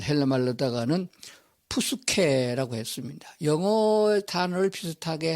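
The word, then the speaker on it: ψυχή: 혼은 영어로 soul이라는 단어 썼고 그리스 말 헬라 말로다가는 푸스케라고 했습니다. 영어 단어를 비슷하게 한 발음할 적은 푸슈케 이렇게 말하는데 헬라 말 그대로 직역하게 되면 푸스케 이렇게 발음하는 게 맞습니다.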